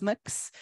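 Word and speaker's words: Mx: So you can officially say that you have heard a non-binary person whose title is Mix.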